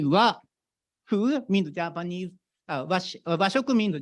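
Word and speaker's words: 和: So when I explain the Japanese culture, which is highly related with our collaboration with MJIT, this character is pronounced wa.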